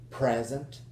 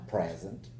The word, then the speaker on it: present: Present as a gift, or I'm present. To present, present as a verb.